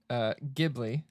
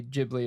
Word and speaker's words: Ghibli: So it is pronounced Ghibli, oh, fuck Okay. no. Oh, fuck no. but a number of people in Japan say Ghibli as well, and no one is corrected.